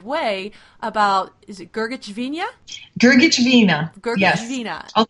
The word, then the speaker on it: Grgich: spelled in Croatian uh the H was added to make it a little easier for Americans to pronounce no extra vowels because